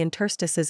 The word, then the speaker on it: interstice: interstice is slightly unusual you might not guess that it's accented on the second syllable this is also true